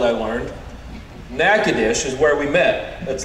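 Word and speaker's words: Nacogdoches: pastors yesterday and in a town that is not pronounced how it is spelled i learned nakadish is where we met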